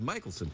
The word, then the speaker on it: Michaelson: when I introduced Ingrid, I said Mickelson instead of Michaelson. Now, that's the way my people would pronounce it, but apparently people around here viewed it as some kind of mark of disrespect, Yes.